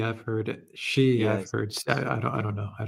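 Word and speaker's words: Xi: Uh phantom of many topics in English the word for female pronoun is she. That is how to pronounce the surname of the president of China. Not J sound in the surname but yes in middle name.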